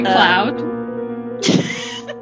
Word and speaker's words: Claude: him claude claude's music and it's actually cloud is it actually i'm